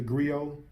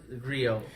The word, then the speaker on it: griot: So you got that T there. Yeah. But it's not really pronounced.